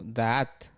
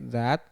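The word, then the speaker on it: דעת: Que se dice se traduce como daat, daat, algo así. Papá, es como es como como una palabra compuesta con dos sílabas de A a at. Bueno, al español, pero en hebreo sabemos que exactamente, pero para la traducción al español se puede decir como suave dat, que es se traduce como conocimiento.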